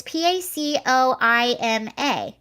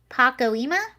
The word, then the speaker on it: Pacoima: she's in her house um how do you pronounce that pocky it's p-a-c-o-i-m-a pacoima pacoima was released from prison last year after